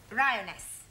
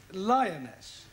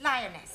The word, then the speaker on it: lioness: of the following lion roness lioness roness no l l r r you're not saying it right very sorry I know try saying roness lioness good well in future